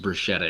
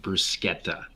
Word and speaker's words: bruschetta: city rochetta just everyone knows bruschetta is not pronounced bruschetta in italy it's pronounced bruschetta uh of dalek 451 how can you have